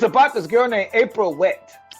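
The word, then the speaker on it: Whett: It's about this girl named April Wett, W-H-E-T-T. The second T is silent.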